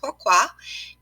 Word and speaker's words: pourquoi: what is pourquoi well it's actually a French word pronounced pourquoi and it simply means